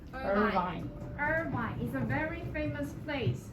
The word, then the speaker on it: Irvine: the word actor Emily what did you say Urban and what should it be Irvine is a very famous